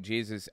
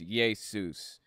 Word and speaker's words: Jesus: In the the Old Test, or I'm sorry, in the New Testament, that's how it was pronounced, Jesus, and it was not changed over to Jesus until it passed through Germanic regions, where Y's are pronounced like J's, and the I eventually morphed into the J.